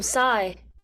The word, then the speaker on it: Psi: Hey, I'm Sai. Hi, welcome. I'm Lou. Is that Cy as in Simon? No, it's spelled PSI, like the Greek letter.